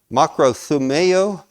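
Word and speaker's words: μακροθυμέω: Makrothumeo, I believe is how it's pronounced.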